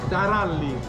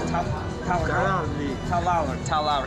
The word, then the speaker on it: Taralli: Taralli. Taralli. How do you roll your R's? Talalli.